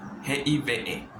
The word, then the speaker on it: give: La E al final de la palabra no se pronuncia. ¿Qué se pronuncia? La letra anterior. Ejemplo, GIF. VE. O sea, GIVE.